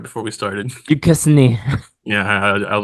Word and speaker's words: Duquesne: Next we got BYU versus Duquesne. Duquesne. Yeah, thank I you. looked it up right before we started. Duquesne. Yeah, I was like, how are we going to pronounce this?